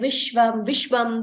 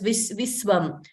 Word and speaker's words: Vishwam: Okay, so in Telugu, something like Vishwam would be pronounced as Viswam in Telugu. But that is not the case in Sanskritam.